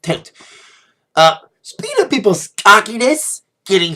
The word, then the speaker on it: Tate: That's why she probably named herself Cupcake, because it rhymes with Tate.